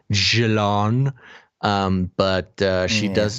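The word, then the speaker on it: Ghislaine: say it oh we know that it's not pronounced just lane maxwell it's pronounced jalon um but uh she does not deserve the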